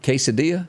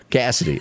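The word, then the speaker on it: Cassadee: Do you pronounce that Maureen Morris? Marin Morris. And Quesadilla? Is that her name? Cassidy. Cassidy.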